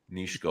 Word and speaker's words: Nishko: Is it Nishko or Nisko? You can say Nishko. Nishko. Perfect. Yeah. I just that's how I visualize it would be. Yeah, that's the right way to say it.